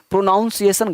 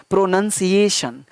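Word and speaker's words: pronunciation: गलत हो जाएगा तो कुछ लोग बोलते हैं वहीं उसने सेंसर प्रोनोउंसिएशन गलत सब है प्रोनोअनसिएशन प्रनंसीएशन हाउ टो प्रोनाउंस नहीं होता प्रोनोअनसिएशन चीकू आप लिख जैसा बोलोगे ना लिखोगे भी वैसा ही अगर आपने बोल दिया प्रोनोउंसिएशन तुम लिखोगे पीआरओ nov1 शायद गलत हो जाएगा प्रोनोअनसिएशन पी आर ओ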